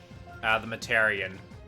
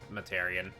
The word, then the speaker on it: Themataurian: The Matarian. That's how you pronounce my name. A lot of people pronounce it different ways and stuff, but yeah, it's Materian.